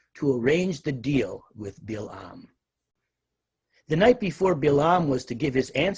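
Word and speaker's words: Balaam: by the way though the hebrew text of the torah renders his name as bilaam most contemporary biblical translations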